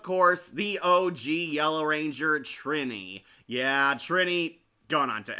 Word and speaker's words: Trini: Her name is pronounced Trini.